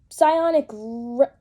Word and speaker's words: psionic: summon it but sign but psionic rebuke I can't say it right it's ionic rebuke when this creature enters